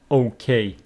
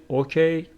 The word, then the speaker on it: okay: so you know that the stress pattern for okay it is on the second syllable making it okay if you say okay it's not correct okay like the word